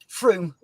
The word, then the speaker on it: Frome: If you're in the UK, Frome Model Centre are their local supplier over there. Yep. Is it Frome or Froome? How do you pronounce it? Froome.